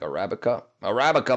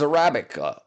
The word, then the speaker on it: Arabica: Arabica man. Arabica man. Welcome back, my friend. How are you? How are you, Arabic? Arabic? How do you pronounce that? It's Arabica.